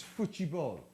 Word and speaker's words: futebol: to put you right it's Foy ball is how they say it in Brazil FY b um somebody